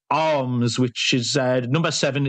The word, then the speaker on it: Alms: with a horse called arms which is uh number seven it's spelled alms arms three to one uh eight